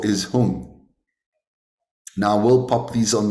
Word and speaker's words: Hung: Hung, okay, H-O-O-N-G. But I think when it's spelled out, it's H-U-N-G. So it's Omahung, Omahung, Omahung.